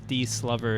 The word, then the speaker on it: DSLOV3: Wow, so 1,000th of a second behind I think it's D Slover. I think in chat they mentioned their real names, and it's D Slover is how to pronounce DSLOV3.